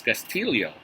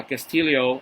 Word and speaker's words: Castillo: here in Manila looking at the pictures Seattle would be displaying Castillo or for some here in the Philippines we pronounce it as castio uh Castillo with a record of six